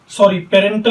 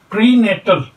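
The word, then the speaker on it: prenatal: पेरेंटल period पेरेंटल नहीं है, प्रीनेटल।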